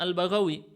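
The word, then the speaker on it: البغوي: Ini bacanya Al-Baghawi. Bagaimana bisa ketahuan? Dengan teks yang disebutkan setelahnya bifathil ba'il muwahhadah wal ghain al-mu'jamah. Al-mu'jamah artinya lawan dari kata al-muhmalah.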